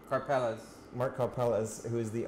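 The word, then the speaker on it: Karpelès: Karpeles.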